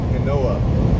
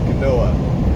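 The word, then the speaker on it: Conneaut: connecticut okay hang on it's not connecticut some kanoa there we go kanoa because it's got a silent t i figure just the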